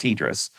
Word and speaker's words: TDRSS: It's pronounced TDRS, but spelled I didn't know that. I know. TDRSS.